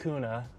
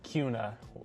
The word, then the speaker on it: Kuna: So, it looks like kuna, but it is actually kuna, like with a Q.